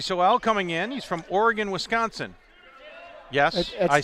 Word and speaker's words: Oregon: No, actually, I think it's Oregon, Wisconsin, yeah, well, right? I was just having some fun with it. Oregon? Oregon, Wisconsin. Oh, they do pronounce it like the state?